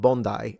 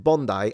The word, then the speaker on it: Bondi: It's pronounced Bondi. Really? I read it the Italian way. I read it the Italian way because in Italian I would read it Bondi.